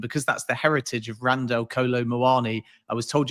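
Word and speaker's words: Randal Kolo Muani: that's the heritage of Randall Kolo Muani, I was told you're supposed to roll the R in Randall. So it's actually Randall Kolo Muani.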